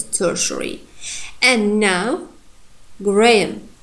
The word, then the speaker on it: Graham: And now Graham. Graham. You see? Here, you can see here has sound, but it's not pronounced. It reduces to schwa sound again.